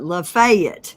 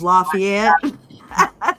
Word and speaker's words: Lafayette: laugh they call it lafayet County okay instead of Lafayette they call it lafayet County that's like you